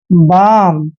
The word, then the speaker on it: balm: देखिए इसको बालम नहीं पढ़ना है, क्योंकि एम से पहले जब भी एल आता है तो एल वहां पर साइलेंट होता है।